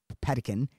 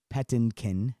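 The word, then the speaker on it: Patinkin: was played by mandy i hope i'm pronouncing this right pedican pettin kin there we go um phenomenal uh in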